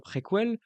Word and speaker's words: préquelle: Resident Evil 0 c'est la préquelle, et oui ça se prononce toujours préquelle, du premier jeu.